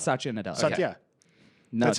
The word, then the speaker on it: Satya Nadella: Microsoft appointed Satya Nadella as CEO.